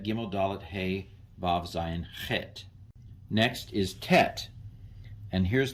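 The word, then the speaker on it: חית: The Chait is connected. So you can see how these little details are important. That's a ch, a chait, transliterated as an H with a dot under it, as opposed to the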